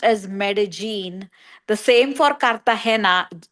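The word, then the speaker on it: Medellín: it's spelled double l i n and it's pronounced as medagene.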